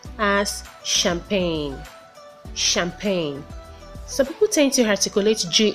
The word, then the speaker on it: champagne: it is pronounced as champagne champagne some attention article HG in the world but the G is silent it is just like